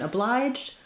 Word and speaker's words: obliged: Then in obliged, letter G says J, but in obligation, letter G says G, like go.